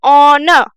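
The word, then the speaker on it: owner: अब देखिए इसका जो प्रोनाउंसिएशन होगा ऑनर, ये जो आर है ना, साइलेंट है, मतलब ये है, लेकिन हम इसको ऑनर नहीं पढ़ेंगे। ऑनर नहीं, ऑनर।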